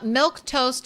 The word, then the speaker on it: milquetoast: Uh, milk toast is its own word, but it is pronounced like the beverage milk.